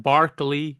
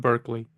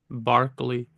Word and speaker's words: Berkeley: Lo Barkley and Hume pronounced Barkley not Berkeley Barkley uh okay I have